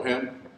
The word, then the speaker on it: Him: my name is Him. I have the easiest last name here to pronounce, so it's H-I-M. So when you go to vote, remember who I vote for. I think I vote for him.